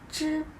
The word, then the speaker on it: 知: 知知知 Many people tell you that 知 sounds pretty much like the English sound J, like Jeep.